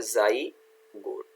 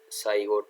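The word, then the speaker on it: zygote: तो यहाँ देखो मैंने दिखाया हुआ है आपका, ये जाइगोट है ना, यहाँ स्पेलिंग का मिस्टेक है, तो ये क्या है, जाइगोट, साइगोट नहीं होता है, जाइगोट।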